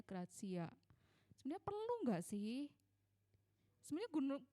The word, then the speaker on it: gratia: selama solagracia razia bacanya tulisannya soal gratia Tapi bacanya grazia sudah perlu enggak sih